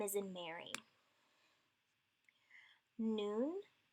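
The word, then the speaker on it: nun: Noon is the N sound like noun.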